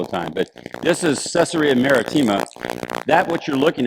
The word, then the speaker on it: Caesarea: Mediterranean Sea and um I should say it like our guide would say caesarea you know he'd say it that way like Caesar caesarea but uh he was